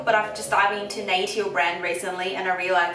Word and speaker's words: Natio: like this uh nature i'm always saying it's national but i've just dived into nato brand recently and i realized that's how you pronounce it so it says sun care board